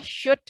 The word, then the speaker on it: should: Hati-hati ya, bacanya should, L-nya hilang, samar, ikfa.